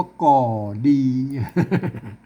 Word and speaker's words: ก็ดี: ก็ นะ ครับ อ่า แต่ เปิ้ล ออก เสียง ว่า ก่อ ดี มัน ก็ แปลก เหมือน